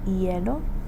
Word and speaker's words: hielo: So again, you don't pronounce the H at the beginning of the word. So that would be hielo for ice, hielo.